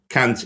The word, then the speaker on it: Kant: should point out this if you say kant in the correct uh germanic way rather than saying can't you pronounce it with a softer kind of so it sounds more like cons basically uh anyway the cop